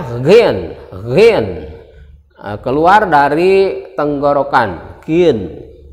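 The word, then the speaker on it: غين: again Line tulisannya adalah g h i n dibacanya Hagen Rin keluar dari tenggorokan Kin ya bukan huruf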